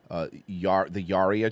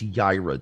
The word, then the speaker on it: Yaira: Rippaverse goalpost, whatever that is, saw our clip and took a little segment of us making fun of the Yaria trailer. It's Yaira, dude.